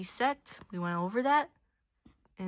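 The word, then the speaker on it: sept: Set. Don't pronounce the P. Set.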